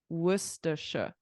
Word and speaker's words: Worcestershire: in the bottom left-hand Corner the little saws Worcestershire but Noah say say it again Worcestershire Worcestershire so this was invented in this town obviously